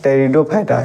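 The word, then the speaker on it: Pteridophyta: थैलोफाइटा दूसरा है ब्रायोफाइटा और तीसरा है टेरिडोफाइटा। इसमें पी साइलेंट रहता है।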